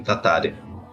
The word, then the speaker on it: Tataryn: Para a gente ouvir o som dessa palavra, desse sobrenome, e eles não pronunciam Tatarém, eles pronunciam Tataren.